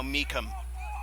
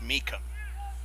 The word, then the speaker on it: Meacham: And now Meekum. Spelled like Meacham, but pronounced with a hard CH. Meekum. Michael Meekum, number 17 for Tormenta.